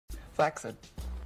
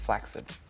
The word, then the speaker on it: flaccid: I think I'm seeing is the human equivalent Flex it it's actually pronounced flaccid not a lot of people know that well